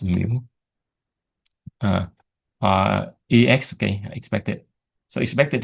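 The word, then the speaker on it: μ: Pronounced mu.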